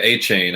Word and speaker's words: Achane: Yeah, Achane.